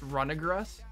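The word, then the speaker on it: Runerigus: It's Runegrus.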